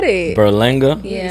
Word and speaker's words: Berlanga: Berlinga. Berlanga. Mhm. You should know. How does it go? How do you say it? You just said it. Berlanga.